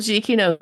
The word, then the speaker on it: Giacchino: Michael Giacchino. He did the theme Oh, for Prodigy. is that how you pronounce his name?